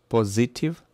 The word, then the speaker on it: positive: Number eight, positive, positive, positive, positive. So the first syllable is stressed.